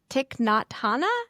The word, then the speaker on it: Thich Nhat Hanh: And I'm going to butcher this prophet's name, but this Buddhist teacher, Thich Nhat Hanh.